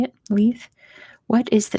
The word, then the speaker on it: Leith: in Leith Edinburgh that's how you say it Leith what is the name of the former Royal yacht of Queen Elizabeth II which operated from 1954 to 1997.